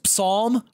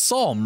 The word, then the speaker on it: Psalm: got that one was Psalm wait is it the p is silent it's Psalm right yep oh my